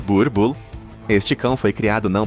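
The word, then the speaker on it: Boerboel: O Boel, pronunciado Burbull.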